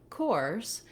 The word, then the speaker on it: coarse: So the difference between curse and coarse is having the versus the or sound. So one sound static, or we're kind of gliding. It's a diphthong where we have a little bit of rounding at